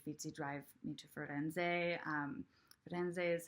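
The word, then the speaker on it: Firenze: lyrics are washy feats you drive me to Freud ends a that ends day is how you say Florence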